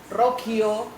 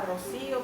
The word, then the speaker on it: Rocío: Ahora que soy internacional, eh, en la pronunciación se hace confuso. Entonces, por ejemplo, Rokio me dicen, o Rochio o Rose, más fácil. Claro. Eh, cre que es como lo más similar a Rocío porque Roso es como de verdad les cuesta